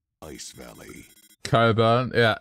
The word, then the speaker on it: Cockburn: City's name ice Valley Coburn yeah it's cut that we say Coburn it's spelled cockburn but you know uh it's it's pronounced Coburn imagine having that as